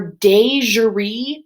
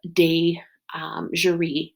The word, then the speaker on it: de jure: device to remember those when you look at the term de jure it's not spelled the same way but it reminds me of a jury Dasia re-segregation is segregation